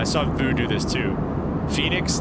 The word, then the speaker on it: Fenix: Phoenix, the way they spell it is just F-E-N-I-X.